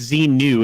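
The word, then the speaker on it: Xenu: talking about scientology oh zimu right right right and it's z new it's an end actually it can be pronounced either one you may want to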